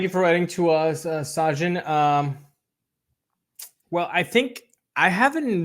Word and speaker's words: Sajin: Sajin says, "Hi guys, this is Sajin. My name is pronounced like Taj Bradley, but instead Sajin, like the drink."